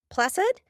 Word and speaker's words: placid: Placid with the S sound, the soft C.